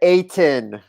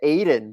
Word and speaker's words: Ayton: DeAndre Ayton. Wait, did you mispronounce his name? I must have missed that. They're saying I said Aiden, but I don't think so.